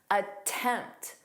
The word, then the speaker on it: attempt: Attempt. You definitely hear that that strong T.